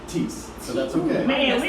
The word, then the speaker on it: Theis: H is silent, long E.